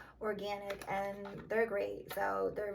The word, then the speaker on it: Organyc: And the brand I've been buying the most is called Organyc, spelled like with a YC at the end instead of an IC, Organyc, and they're great.